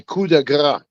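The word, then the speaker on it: coup de grâce: My coup de grace. That's how you say it in French, The boys coup and de grace.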